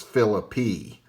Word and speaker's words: Phillippe: Now, that book says that the correct pronunciation is Phillippe, though they give no real explanation for it.